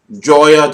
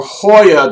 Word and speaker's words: Joya: is this cigar company joya the nicaragua or hoya to nicaragua depending upon how you pronounce it and if you pronounce it incorrectly i prefer to call it joya to nicaragua because it brings me so much joy and i'm american and j-o-y-a spells joya i mean if you're spanish i can understand hoya